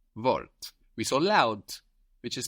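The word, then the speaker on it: laut: the word vort the word for word which is spelled w o r t vort we so loud which is spell l a u t cult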